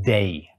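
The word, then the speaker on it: δεῖ: The Greek word is pronounced "dei."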